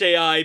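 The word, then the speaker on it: Eiai: First, we have AI, and that is spelled E-I-A-I. It's pronounced AI because her trope is basically kudere.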